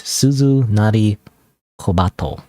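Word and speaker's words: Suzunari Kobato: but pronounced differently so written as a bell that rings with a small pigeon so it's suzu nari kobato kbato suzunari kbato So, you're called Kobato Chan.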